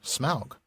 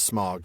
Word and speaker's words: Smaug: was interested in um even if he was looking to Gothic for the inspiration, it would still be pronounced smog. So it is smog, not smog. But but it's because of the Germanic origin, not for the reasons given in appendix E.